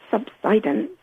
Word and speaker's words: subsidence: The the noun from the verb subside is pronounced subsidance.